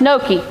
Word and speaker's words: gnocchi: It's spelled crazy, but it's pronounced gnocchi. And that's, yeah, Holly, I got that in honor of you so that we can have gnocchi.